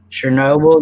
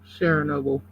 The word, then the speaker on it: Chernobyl: Chernobyl, yeah.